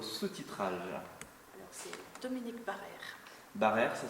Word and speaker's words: Barrère: Barrère, ça s'écrit.